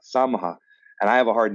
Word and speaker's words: Samaha: Samaha. Samaha.